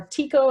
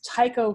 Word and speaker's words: Tycho: is called Tycho or Tico if I've heard it pronounced - but I like to think of it it's Tycho kind of like the Dutch astronomer Tycho Brahe call it what you